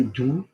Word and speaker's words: doux: If I went with do, I mean, I'm stressing it a bit, très doux. Am I going monkey or am I going lady or monkey? I'm going monkey.